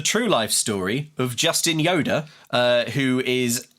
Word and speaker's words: Yoder: That's not spelled like Yoda from Star Wars. I know. I've not said it out loud before, and as soon as I said it, do not imagine Yoda.